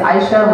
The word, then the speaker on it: Aisha: It's Aisha. Two syllables.